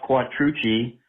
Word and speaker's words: Quattrucci: Hey, David, this is Quattrucci. I just want to thank you for the proper pronunciation of my name.